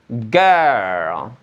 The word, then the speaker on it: girl: Cara ngucapinnya adalah semuanya bisa jangan langsung ke huruf R atau L-nya, tapi girl girl girl girl. Justru nanti R sama L-nya di di akhirnya aja.